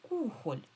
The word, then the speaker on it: кухоль: в слові кухоль. Кухоль. Кухоль ми кажемо. Отже, наголошений перший склад.